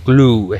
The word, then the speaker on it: glue: Se dice glue, escrito glue. No se dice glue, ni true, ni blue, ni nada por el estilo. Entonces estas palabras se pronunciarían con U larga.